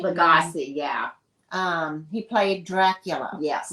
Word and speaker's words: Lugosi: In 1882, Bela, how do you pronounce that? Lugosi? Lugosi, yeah.